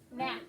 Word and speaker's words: gnat: you spell it, it has a silent G, right, Ellie? So Ellie says up here on number 3, going down. G in it. Yeah, you have to write that silent G. And then And then A. Short A. At. Gnat.